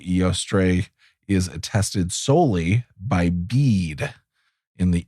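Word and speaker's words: Bede: so bead AKA Saint bead the venerable it's be D seems to you want to call him Betty I know but it's bead it is I checked it is pronounced be um seems to be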